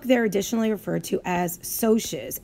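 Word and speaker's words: Socs: additionally referred to as socias s o CS that does not spell socks it's a soft C and soes is short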